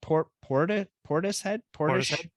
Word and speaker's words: Portishead: Portishead?